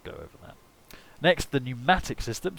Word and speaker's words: pneumatic: Next, the pneumatic system. So the pneumatics, of course, are new, the ancient Greek word for pressurized air, and with the silent P, my favourite of all of the silent letters.